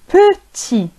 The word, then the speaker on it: petit: إذن المذكر لو ماسكولان نقول بوتي بوتي بوتي، وفي المؤنث لو فيمينان نقول بوتيت، نضيف او بوتيت بوتيت بوتي بوتيت.